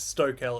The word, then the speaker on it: Stokell: I get stokel a lot. Um, hi I but stokel is the correct pronunciation.